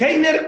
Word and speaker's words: Heiner: mayoría de las personas, y yo mismo me llamo Heiner, pero hay algunas personas, dependiendo de su latitud, que la H la hacen muda, entonces a mí me cuesta pronunciarlo Heiner, me cuesta.